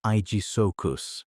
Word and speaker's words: Aegisuchus: Sharing those rivers was Aegisuchus mary, pronounced I-G So-kus, nicknamed Shield Croc, a